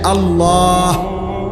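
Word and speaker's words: الله: এজন্য এটা খেয়াল করা হা পুরা স্পষ্ট বিশুদ্ধ উচ্চারণ হইতে হবে শেষে আল্লাহ শেষে একটা গোল হা আছে ছোট হা আল্লাহ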